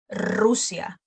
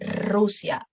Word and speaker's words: Rusia: Por ejemplo, Roma, Rusia, República Dominicana. So you will roll it a little longer at the beginning of the words. No, Roma, Rusia, República Dominicana.